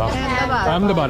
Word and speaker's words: Ahmedabad: Ahmedabad. I always pronounce it wrong, sorry.